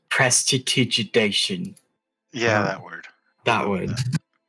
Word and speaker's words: prestidigitation: I'm going to pull out a candle and use protestation to light it. Prestidigitation. Yeah, whatever that word I is. can't. I had so much trouble saying that word. It's pronounced prestidigitation.